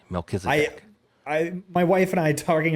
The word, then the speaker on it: Melchizedek: Melchizedek. It's a biblical name. Melchizedek.